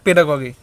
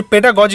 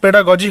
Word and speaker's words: pedagogy: অর্থাৎ বিজ্ঞানসম্মতভাবে শিক্ষণের যে পদ্ধতি তাকেই কিন্তু বলা হয় পেডাগগি। অর্থাৎ যে পেডাগজি, অ্যাকচুয়ালি এটা উচ্চারণটা হচ্ছে পেডাগজি হয়, হ্যাঁ। তো বিভিন্ন জায়গাতে পেডাগগি রয়েছে, কিন্তু এটার সঠিক প্রোনাউন্সিয়েশন পেডাগজি হয়।